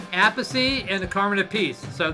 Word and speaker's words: Appice: Well, there's a Peachy, Appice, and a Carmen Appice.